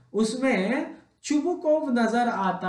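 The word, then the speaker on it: Chubukov: हाँ, तो इसके जो कैरेक्टर्स हैं वो हैं स्टेपन स्टेपानोविच चुबुकोव, जिसका सही स्पेलिंग ये होता है बट we pronounce it एज चुबुकोव.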